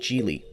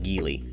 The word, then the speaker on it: Geely: one offered by chinese manufacturer gili yes it's pronounced jeely not gili jili has been making waves in the automotive world